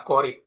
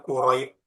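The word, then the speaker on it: قريب: Kira-kira teman-teman tahu dari mana ini bacanya qorib? Kok bukan kuroib? Kok bukan kirib?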